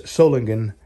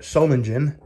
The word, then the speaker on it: Solingen: It's Solingen if you're German in Germany, but I'm not. So I call it Solingen because we pronounce the G soft here.